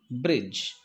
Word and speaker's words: bridge: these words for example many people pronounce bridge bridge not d sound d absolutely silent in that word bridge so we should not pronounce the d sound it's not bridge it is only bridge and edge edge it